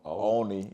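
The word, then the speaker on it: Olney: How do you pronounce it? Oni. Okay. How did Oni Central come about?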